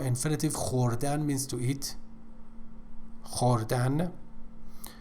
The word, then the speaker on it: خوردن: خوردن. Pay attention to the pronunciation of khe, which doesn't exist in English.